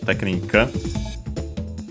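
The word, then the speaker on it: テクニック: Actually, in this case, it's accent on the first syllable. So technique. Technically, could be. It's well, usually in English would be on the ni technique. But I wouldn't be surprised if someone pronounced it also on the te, and regardless, it's on the te in Japanese, so keep it in mind.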